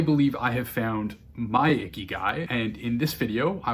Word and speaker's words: ikigai: about here and there pronounced icky guy as in a word my daughter would use to describe me after not shaving or showering for a week the icky guy is a japanese concept